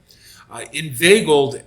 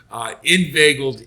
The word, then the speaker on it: Inveigled: Inveigled, and that is the way you pronounce it for those who don't know. The reason I say that is if you watch Inveigled's last race, Pete Aiello must have pronounced him like 3 or 4 different ways. He couldn't settle on one. Inveigled is the proper pronunciation.